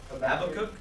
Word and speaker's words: Habakkuk: So, someone turned to, I always mispronounce this book of the Bible, I'm sorry. Habakkuk?